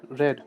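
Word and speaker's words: read: देखिए, इसे रेड मत आप प्रोनाउंस कीजिए क्योंकि जो है रेड प्रोनाउंस किया जाता है। रीड रेड रेड। ठीक है? रेड रेड second and third form में पढ़ा जाता है। रीड और जो फर्स्ट फॉर्म होती है उसे उसमें हम रीड ही इसको प्रोनाउंस करते हैं।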